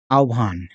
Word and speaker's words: আহ্বান: আহ্বান, এখানে ব ফলা হয়ের সাথে যদি ব ফলা থাকে তার উচ্চারণটা হয় ও এবং ভি, ভয়ের মতো। হ্যাঁ, আহ্বান। ও এবং ভ একত্রে হলে যেটা হবে সেরকম। এটার উচ্চারণ আহ্বান।